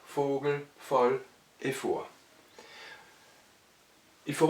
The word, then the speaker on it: Vogel: F comme en français, mais avec un V qui en allemand se prononce toujours V, et ces mots-là sont alors prononcés F alors qu'ils sont orthographiés avec V.